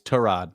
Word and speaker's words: Tyrod: uh Taylor too yeah it's not Tyrod it's torad to rod and then